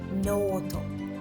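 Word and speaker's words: ノート: So it's not noto, right? You want to drag that letter no. Uh yeah, no a little bit extra. So that would be noto.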